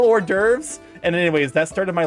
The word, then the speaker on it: hors d'oeuvres: I knew the word hors d'oeuvres, and I had seen it spelled. I just didn't realize hors d'oeuvres was spelled like that. So I was like, yes, I don't know what they're talking about with these horse d'oeuvres, but they sound tasty.